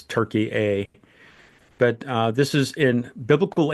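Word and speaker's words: Türkiye: the modern day pronunciation now is Turkey A, but this is in biblical Anatolia, Yeah.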